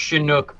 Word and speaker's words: Chinook: It's pronounced Chinook, by the way.